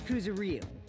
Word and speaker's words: Kuzuryu: My last name is Kuzuryu. My first name is pronounced.